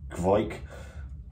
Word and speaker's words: kveik: ipa fermented with fight yeast pronounced kvike let's get at least